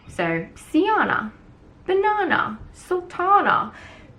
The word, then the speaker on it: Sjana: it's really off-putting but think of the J is like an I so see Jana banana Sultana see Jana it rhymes with those